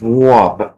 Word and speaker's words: Rob: It's Rob. R-A-W-B. Rob. How they say it in New York.